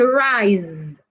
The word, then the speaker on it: rise: C to letter Zed now sometimes letter s can make the sound of Zed as in Rise r i s e rise but not all the